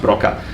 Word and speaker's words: Broca: And Wernicke should really be pronounced Wernicke, and Broca should be really pronounced Broca.